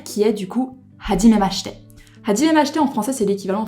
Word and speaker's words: はじめまして: Et en fait en japonais le I lorsqu'on a le S-H devient muet. Donc ça ferait hajimemashite et non pas hajimemashite.